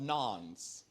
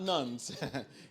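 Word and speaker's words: nones: There's a growing population of nons, not nuns, N-O-N-E-S, nons.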